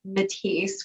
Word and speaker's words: Mettise: So my email is my name, at Matisse, which is spelled differently.